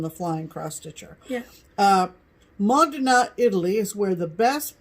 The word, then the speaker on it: Modena: September in Italy is in ma Donna and it's mo de na but I've heard people